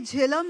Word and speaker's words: Jehlum: I think in your prologue, yeah, that this is the way Jehlum is pronounced and spelled in Kashmir.